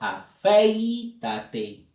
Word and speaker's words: afeítate: Y cuando tú pronuncias te das cuenta de que la vocal que lleva fuerza de voz es la E, no es la I. Porque nosotros decimos afeítate. La E la pronunciamos con énfasis. Si hubiese sido al revés, la I diríamos afeítate, pero nadie dice afeítate.